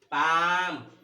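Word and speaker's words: palm: देखो तो क्या बताया नियम में कि एल के बाद कोई व्यंजन हो तो एल का उच्चारण नहीं होता। कैसे नहीं होता तो देखो, इसको क्या पढ़ेंगे, काफ, फिर योक, फिर half, बॉक, talk, पाम, could, should. अब यहाँ पे देखिए तो एल यहाँ का उच्चारण नहीं किया हमने। अब यहाँ पे इसको हमने बाल की नहीं बोला, इसको हमने टाल की नहीं बोला, इसको हमने साल में नहीं बोला, यानी एल साइलेंट है।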